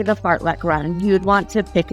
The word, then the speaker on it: fartlek: But tempo runs, interval runs, fartlek runs, and yes, that's how you say it, fartlek.